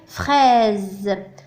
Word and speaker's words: fraise: ثم هنا لدينا الحرف اس محصور بين او و اي. donc ينطق ز. الكلمة هي fraise الفراولة.